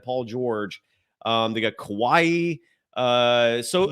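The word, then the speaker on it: Kawhi: George um they got Kawaii uh so it's Kawaii dude uh they he always gone Kawaii it's Kawai kaai uh there's no e at the end there just Kawai that's what I said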